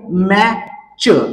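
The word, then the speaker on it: match: याच वाचन होणार आहे लक्षात घ्या त्याच्यानंतर आहे मॅ च आणि यातील टीटी हे लेटर सायलेंट होणार आहे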